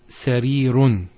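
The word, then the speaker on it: سريرٌ: So the first one is sarirun. So you see the tanween here. Next one is mawzatun. Third one, ajalatun. And lastly, ta'iratun. So notice the un sound at the end.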